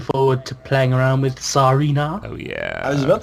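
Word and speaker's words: Tsareena: Well, because it's like a Tsar. That's the Yeah. Russian. Because it's like a Tsarina, which is like Russian. Because Serena is a bit too much like Serena.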